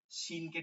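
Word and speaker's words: ش: জিহ্বার মধ্যভাগটা তালুতে লাগাবেন, এইভাবে লাগবে, এইভাবে, ঠিক আছে? এইভাবে লাগিয়া এই মাঝখান থেকে বাতাস বের হয়ে আসবে।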